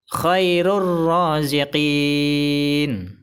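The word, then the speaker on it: خَيْرُ الرَّازِقِينَ: Contoh yang tanwin. Bacaan yang benar adalah khairur raziqin. Khairur raziqin. Kesalahan baca yang pertama adalah khairur raziqin. Salah. Karena bacanya tidak ditahan dan tidak didengungkan. Kesalahan baca yang kedua adalah khairun raziqin. Salah. Karena bacanya harus dimasukkan ke huruf idgham bila gunnah.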